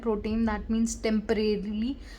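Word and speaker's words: pro tem: इसको हम लोग प्रोनाउंस ऐसे ही करते हैं, प्रोटेम, दैट मीन्स टेम्परेरीली जो अपॉइंट होता है।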